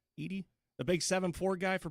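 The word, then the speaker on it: Edey: year but is uh how do you say his last name it's it's Edie it's e-d-e-y Edie the big 7-4 guy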